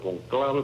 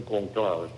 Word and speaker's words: conclave: el conclave, así que se pronuncia en italiano, conclave, porque es por la palabra llave. Llave en italiano llave y en español se dice cóncave, pero en los italianos le dicen cónclave.